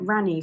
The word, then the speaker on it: Raanu: So these are the Ranu socks. It's spelled Raanu, and it's by Ronya Hakalento.